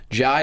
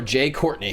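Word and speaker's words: Jai Courtney: Will Smith is Deadshot ji or Jay Courtney however you want to pronounce it as Captain Boomerang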